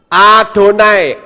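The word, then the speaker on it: אדוני: Adonai, Alef, Dalet, Nun, Yod, Adonai.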